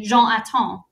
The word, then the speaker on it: Jonatan: Like you really pronounce strongly Jonatan, whereas in English, I would say Jonatan.